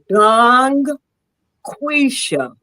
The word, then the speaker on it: DungQuesha: Let me just tell you how to pronounce it. Dang quisha.